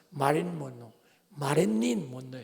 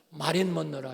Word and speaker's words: 마릴린 먼로: 문남성의 섹스의 심벌로 알려진 세계적인 여배우 마릴린 먼로예요. 정확히 우리는 발음이 어려서 마린 먼로라 하죠. 원래는 마릴린 먼로. 한국 사람 발음이 어려워요. 마린 먼로 그랬는데 마릴린 먼로야.